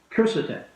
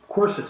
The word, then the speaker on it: Quercetin: Now, the second supplement I wanted to talk to you about this evening is called Quercetin, or Quercetin. It begins with a Q, so some pronounce it with a Q.